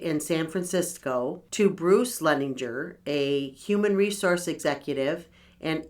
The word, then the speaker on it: Leininger: So if I mispronounce anything and I start giggling over... So this is about James Madison Leninger. I think is how you would say it. Leininger.